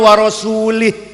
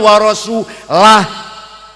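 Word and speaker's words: وَرَسُولُهُ: Ada orang baca Quran salah. Innallaha bari'um minal musyrikina wa rasulih. Allah orang lindungi orang musyrik dan tidak melindungi rasulnya. Salah. Bacanya innallaha bari'um minal musyrikina wa rasulah.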